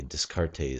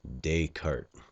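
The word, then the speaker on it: Descartes: to us um now the proper way to pronounce this philosopher's name is Renee dayart so uh the tendency is to say discart or something funny like that uh but just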